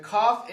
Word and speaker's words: cough: The cough is spelled C-O-U-G-H and read cough.